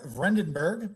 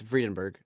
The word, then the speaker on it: Friedenberg: Kozlowski no you're fine my name is Dutch it's weird uh it's friedenberg friedenberg friedenberg friedenberg is an